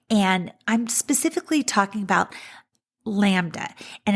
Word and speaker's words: LaMDA: It's important that we talk about AI sentience, and I'm specifically talking about LaMDA, and it's spelled uppercase L, lowercase a, uppercase MDA.